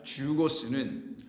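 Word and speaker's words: ζεῦγος: 그래서 이 멍에라고 혹은 결이라고 우리말로 번역을 하게 되는 이 말 주고스는 영어로 말하면 Z, E-U, 그 다음에 G-O-S라고 하는데 우리말식으로 영어로 풀어서 이제 발음을 하게 되면은 이때 사용되는 이 주고스가 이 본문에서 말하는 것인데요.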